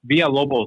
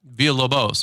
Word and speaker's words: Villabos: Yeah, that's pretty close. Villabos. There's an S at the end. Villabos.